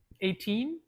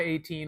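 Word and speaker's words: A'TIN: Okay, I don't really do that, but 18 meaning hours in Filipino, like pronounced like the number 18.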